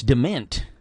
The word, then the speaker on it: DeMent: I would say it Iris Dement. Dement?